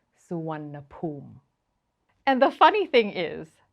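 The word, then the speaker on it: Suvarnabhumi: along the lines of SAA bahumi well whatever it is that you're thinking it is not even close this airport is pronounced suan and the funny thing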